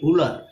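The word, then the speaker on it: Wöhler: তো জার্মান ভাষায় এই ডাব্লিউটা কি ভ উচ্চারণ হয়, এই কারণে জার্মান ভাষায় উলার না বলে ভোলার বলা হয়।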